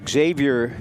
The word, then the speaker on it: Xavier: It's a Xavier Gilmore. Xavier, I believe he goes by. At least I was told by coach Williams that he doesn't pronounce the X.